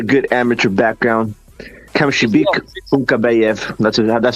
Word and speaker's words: Kunkabayev: Cam Shebek Kunkabayev. That's how you pronounce it.